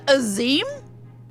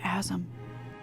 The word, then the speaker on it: Azim: I'm sorry it's pres it's pronounced azim I've always pronounced it aam oh boundless and merciful